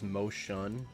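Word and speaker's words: Mo Xuan: Then it's off to my Moshuan, I think is how you pronounce it. I I hear 700 different ways to pronounce it. So my friend says Moshan, but I don't think it's Mo 10 please.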